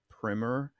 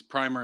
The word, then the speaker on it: primer: mentions that it's a primer, but I mean it's spelled primer. So like, shouldn't there be two M's there if it's primer? Yeah. No. Both are acceptable pronunciations. Primer and primer.